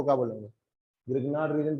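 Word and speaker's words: Grignard: किताबें पढ़ोगे तो कुछ लोग बोलते हैं कि इसे रिग्नाार्ड बोला जाता है। प्रोनाउंस एज रिग्नाार्ड या फिर ग्रनयार्ड है ना? बट आप उसे ग्रग्नार्ड भी बोलोगे तो ग्रिग्नार्ड भाई साहब को बुरा नहीं लगेगा। बट प्रोनंसिएशन यूजुअली उसका ग्रनयार्ड होता है।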